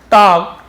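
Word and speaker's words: talk: And Chiku reply to हिम, तो यहाँ पे एल साइलेंट, टाल करनी नहीं पड़ेंगे, टॉक्ड होगा, टॉक यानी बात करना, एल साइलेंट होता है।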